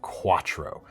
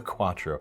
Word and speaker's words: Q4ttro: The first being the LionSteel Q4ttro. That's spelled Q, the number 4, ttro. Makes it real great to try and the Q4. It's like Audi. The Audi. No, they actually spelled out Quattro.